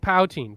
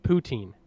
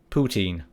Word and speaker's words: poutine: implants it properly pout pout een you said pouting but it's it's pronounced poutine poutine yeah I gotta be honest it sounds worse